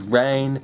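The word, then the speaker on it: Reyne: My real name is Rain. It's spelled R-E-Y-N-E, not R-A-I-N.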